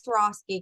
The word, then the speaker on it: Swarovski: apart said correctly so once you pretend that you asking you had an accident and you swore off skis okay and accidentally Swarovski now they made that